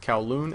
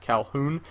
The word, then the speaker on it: Kowloon: It's Sam or XJaws, and today I'm bringing you guys a team deathmatch game on the map Kowloon. Notice I said Kowloon and not Calhoun.